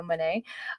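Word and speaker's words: Moné: route with Mercedes Mane I need to pronounce it correctly because it's money you know Mane um but I I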